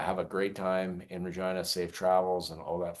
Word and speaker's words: Regina: I know it's Regina, but it is the city that rhymes with fun.